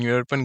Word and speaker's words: European: An European girl. The explanation is, here European begin with a vowel E, but it is pronounced as yo, so A will be used.